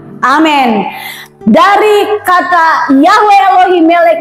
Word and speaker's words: Amen: Biasanya dibilang Amin, padahal itu harusnya Amen.